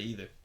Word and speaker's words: either: If I think it needs an I in there, then I'll say either. If I think it needs an E, I'll say either.